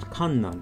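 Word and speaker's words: 困難: look at this word it's pronounced Kanan and means hardships or difficulties at first glance it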